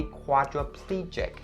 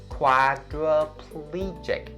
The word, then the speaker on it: quadriplegic: And this one has the voiced CH sound for its consonant, jig. Please don't say chick. Don't say quadriplegic, but it has to be quadriplegic. Quadriplegic.